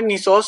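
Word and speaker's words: gneissose: देखो नेक्स्ट आता है हमारा निसोस स्ट्रक्चर। तो जी हमारे यहाँ पर साइलेंट होता है, निसोस स्ट्रक्चर।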